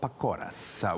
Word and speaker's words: Pakora: Pakoras.